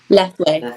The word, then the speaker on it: Lethwei: Lethwei, that's correct.